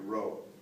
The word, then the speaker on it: rho: by the way a rho it's the Greek letter row that's how you spell it rho so the density